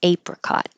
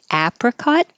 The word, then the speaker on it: apricot: hat or it could be a like hey apricot so they're both correct do you say apricot or apricot Haggard definitely an a vowel open lot hag